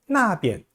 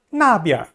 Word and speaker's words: 边: 지시사나 방위사 뒤에 나오는 비엔자는 약하게 경성으로 발음합니다.